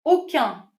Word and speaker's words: aucun: Aucun, mark the pronunciation. when what follows is a masculine word. However, if it's feminine, I would have to say aucune.